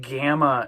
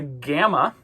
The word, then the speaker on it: gamma: The gamma uh the G sound is usually a hard G a G sound like that. Um it like the word gamma. It's not J like George. It's G. Okay.